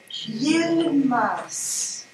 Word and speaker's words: Yilmaz: Yilmaz. Est-ce que je le prononce bien? Oui, c'est tout bon. J'oppose S et Z entre mas et maz en sensibilisation à la discrimination auditive. Maz. Y-. Y-I-L-M-A-Z.